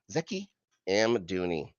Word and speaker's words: Zeki Amdouni: Zeki Amdouni.